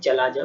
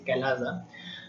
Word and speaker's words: chalaza: The spelling is CHALAZA, so sometimes it is also studied or pronunciated like chalaja, but it is not the chalaza, it is calaza.